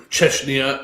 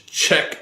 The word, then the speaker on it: Czech: I I probably sit at a bar in Cheshnia or not Chescheshia Czech because the way they spell it in their language it looks weird.